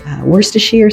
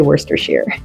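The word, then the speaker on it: Worcestershire: broth, you can use worstachir sauce. That's how I say it. How do you say it? Worst. Worstershshire or Chesterershshire. Let me know in the comments below how you say it. I say Worstershire.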